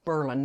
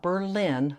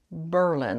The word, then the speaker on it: Berlin: It's called It's pronounced Berlin, not Berlin like in Germany. It's pronounced Berlin, Ohio.